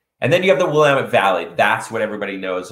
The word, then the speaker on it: Willamette: then you have the willamette valley that's what everybody knows about oregon it is pronounced the willamette not the willamette um and it's oregon